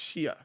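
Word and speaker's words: Xie: She lieutenant and it's her name is spelled X I E and she's like call me Lieutenant Z. I'm like, okay. But I don't I don't think that's how it's pronounced. You know, she's Chinese. She's Chinese descent. And she I like how do you pronounce it? She's like, "It's pronounced it's really pronounced shia."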